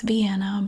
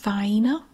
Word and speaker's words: Vienna: Vienna sausages are gone yes I know it's Vienna but around here it's pronounced fine and it sounds weird to say it any